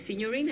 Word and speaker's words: signorina: And she's definitely an Italian signorina. Is that how you say it? Yes, very well. Signorina. Because many Working on people my- say signorita, but it's signorina in Italian.